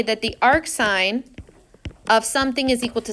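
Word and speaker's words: arcsin: s to the -1 which we would still pronounce as Ark sign or sin inverse of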